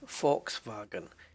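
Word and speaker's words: Volkswagen: but Fox bargain folks the V is an f and the W is a v Fox wagon Daimler Mets met Matt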